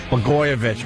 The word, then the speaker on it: Blagojevich: That governor in Illinois, Blagojevich, or Blagojevich? Blagojevich, right.